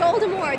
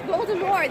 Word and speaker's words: Voldemort: Voldemort? It's no T. It's Voldemort. They mispronounce it in the movies. Oh, is that? She said, J.K. Rowling said, it's Voldemort. There's no T at the end.